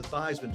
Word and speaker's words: Theismann: we think by simply changing your name from Theismann to Theismann to rhyme with Heisman, we can get you that trophy.